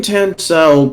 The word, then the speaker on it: Tansau: your name come from and how do you pronounce it the name tencel comes from two sources the first source is